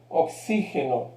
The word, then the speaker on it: oxígeno: Observen esta que es diferente en portugués. Oxígeno. Observen la sílaba fuerte. Oxígeno.